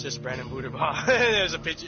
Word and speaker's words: Buterbaugh: Booter. Buter. It's Buter. I'm gonna spell it how I'm gonna spell it. Buterbaugh. It's spelled B-U-T-E-R Bah. B-A-U-G-H.